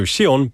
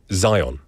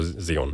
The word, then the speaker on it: Zion: So Shion but not so Shion but Zion or Zeon because probably he brought his birth certificate at the time.